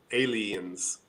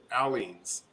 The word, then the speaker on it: Aleene's: And here in Oklahoma, we pronounce it Aleens. Aleene's. Because the AL is Al, and then it's Yeah. EENS. To us, it's Aleens, but I've heard it pronounced Aleens.